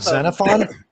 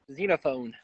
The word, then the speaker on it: Xenophon: it diddies we got xenophon or whatever oh you got xenophon right is that correct i got to change that now wait it's not cenophon xenophone yes it's like xenophon xenophobia damn it okay i